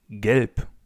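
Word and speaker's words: gelb: Yellow in German is gp galp.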